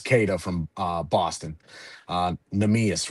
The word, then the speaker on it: Neemias: Neemias, right? Am I saying that Oh correctly? yeah, His first name Neemias.